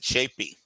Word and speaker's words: Tschoepe: Tschoepe, guys, and you pronounce that Shapey.